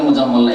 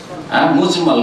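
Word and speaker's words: مجمل: ভুল করে অনেক উচ্চারণ করে মুজাম্মাল, একই রকম করে উচ্চারণ করে, কিন্তু আসলে মুজাম্মাল না, মুজমাল।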